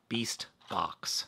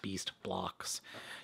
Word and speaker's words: BeastBOX: BeastBOX, not BeastBLOX.